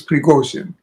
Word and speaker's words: Prigogine: Yes, he says, everybody says Prigozhin. He says it's Prigozhin. Because he was Russian by origin.